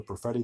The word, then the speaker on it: Perfetti: And can you pronounce that one? Cole Perfetti.